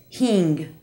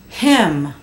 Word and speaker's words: him: I can think of listen to Carlos pronouncing the word him he says it as Hing has Mike been here yet no nobody has seen H him him the short o sound